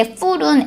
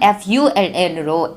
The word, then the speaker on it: full: 나 배불러라고 얘기를 할 때 full은 full로 fu가 이제 모음이 하나밖에 없잖아요. 그에 반해 바보라는 뜻의 fool은 FOO니까 O가 두 개 붙어서 이거는 장음으로 발음을 해야 되잖아요.